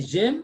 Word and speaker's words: j'aime: Vous aimez, ils aiment, but you say j'aime, the first person, J apostrophe, all you cannot say je aime. No, you see there's a break there.